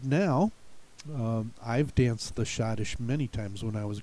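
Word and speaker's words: schottische: one pronunciation that is shadish so you won't get any clues that that e is there you're going to have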